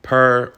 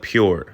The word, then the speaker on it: Pur: it pronounced different ways per pure throughout the video I later found out according to the locals the owners call it pure so it's pure Boutique Cabanas it gets